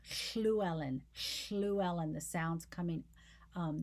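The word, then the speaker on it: Llewellen: pronunciation we would say luellen they don't say it that way it's schluelen schluelen the sound's coming um there's a fricative sound coming alongside a liquid so it's a combining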